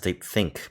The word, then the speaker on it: Deep ThinQ: I think it's pronounced Deep Think, but instead of the K, it's a Q.